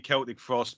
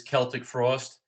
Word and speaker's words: Celtic Frost: Well, it's interesting because I would say that probably the proper pronunciation is Celtic Frost. I have never said Celtic Frost before. It's always been Celtic Frost, and I'm sure that you've heard it pronounced Celtic Frost as well.